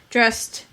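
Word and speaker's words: drest: little fairies he dressed i don't know that word dress oh oh dressed sorry it's spelled d-r-e-s-t but i think it's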